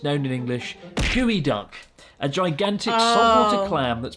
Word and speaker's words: geoduck: No, it's called Gooey Duck.